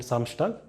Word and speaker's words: Samstag: And if it appears inside a word, like this, Dienstag and Samstag, then you pronounce it as it is, Dienstag and Samstag.